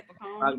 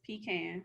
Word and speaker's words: pecan: That's how country people out here, they'd be like pecan. Like they just say it like put emphasis on both parts of the word. It's pecan.